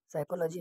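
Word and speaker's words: psychology: के साइलेंट है knife साइकोलॉजी में प साइलेंट है साइकोलॉजी नॉलेज में के डब्लू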